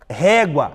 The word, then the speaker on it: régua: Régua, mesma coisa. Régua. Paroxítona, pois a penúltima é a mais forte, termina em ditongo.